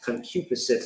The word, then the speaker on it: concupiscence: Evil concupence. What's it like? Concupiscence. Concupiscence is how you say that word.